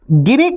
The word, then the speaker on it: Gini: The chief economic advisor says, look at the Gini coefficient. Look at Gini coefficient. The Gini coefficient or Gini, pronounce either it as Gini or Gini, doesn't matter. So look at the Gini coefficient